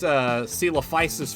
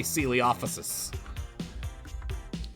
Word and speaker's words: Coelophysis: My grandmother was the reason that I mispronounced Coelophysis for the first, 12 years of my life. because I used to say Coeliophus.